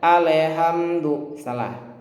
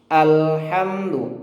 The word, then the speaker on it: alhamdulillah: dipantulkan terkadang atau membaca Ale hamdu lillah Jadi huruf lam sukun itu bukan huruf Qalqalah jadi tidak perlu dipantulkan Jangan dibaca aneh hantu tapi alhamdulillah Al Al ya Tidak ada pantulan Alhamdulillah sehat hanya tipis